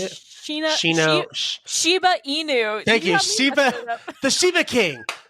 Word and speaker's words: Shiba Inu: They're like a Shino Ibu. Is that how you say it? Shiba Inu.